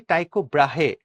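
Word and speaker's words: Tycho Brahe: যে ইন 16 century টাইকোব্রাহে টাইকোব্রে অনেকে অনেকভাবে উচ্চারণ করে এটাকে হ্যা টাইকোব্রাহে বা টাইকোব্রে এ ড্যানিশ অস্ট্রোনোমার অবজারভ মুভমেন্ট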